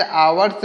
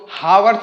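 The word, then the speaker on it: hours: it takes आवर्स एंड आवर्स create it takes यानी यह लेता है इट टेक्स यानी यह लेता है आवर्स इसको हावस नहीं पढ़ेंगे व येज इसमें साइलेंट होता है इसको पढ़ेंगे आवर्स यानी इट टेक्स या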